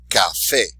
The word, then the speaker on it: café: So even though it ends in a vowel, we're not going to say the second to last syllable. We're going to do it where the exception to the rule is.